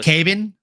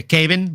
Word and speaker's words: Kevin: to earn brownie points, when they say a Brazilian name like Kevin, they pronounce the V as a B. So, it's Caven Vallejo. Oh, Kevin Vallejo. Yeah, Caven Vallejo.